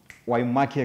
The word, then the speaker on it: Waimaki: So, Waimaki Crochet. Yes. Have I said it right? Yes, you have.